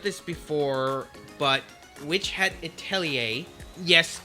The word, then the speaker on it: Atelier: before, but Witch Hat Atelier, yes, it is pronounced that way because it is a French word.